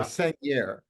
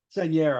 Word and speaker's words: Sagnier: Charlotte Rampling and Ludivine Sagnier or yeah, Sagnier. Seigneur, I believe it's pronounced, but yeah, I butcher